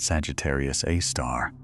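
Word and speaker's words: Sagittarius A*: Astronomers call it Sagittarius A, pronounced Sagittarius A star.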